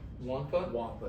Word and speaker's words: Nwakpa: Also, their safeties are pretty good, especially Xavier Nwakpa. Wankpa is how you say it.